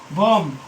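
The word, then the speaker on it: bomb: तो हम देखते हैं यदि किसी शब्द के अंत में एम बी हो तो वहां बी साइलेंट होगा।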